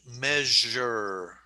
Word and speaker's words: measure: And we have the English word measure. Measure. Yeah. Measure. So I apologize that English is not easy to pronounce, but we're going to practice, okay?